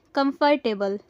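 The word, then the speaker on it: comfortable: हमारा पहला वर्ड है कंफर्टेबल।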